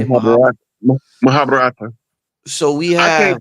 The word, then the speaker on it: Mahabharata: Mahabharata. Mahabharata. So we I can't have pronounce it like they pronounce it because I don't talk with the Indian.